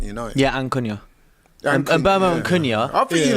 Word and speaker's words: Mbeumo: Mbeumo, I've realised today, so you pronounce it Mbeumo. Flex is the only one that's been saying it correctly the entire time. Yeah? Turns out I kept saying Mbeumo. It's Mbeumo.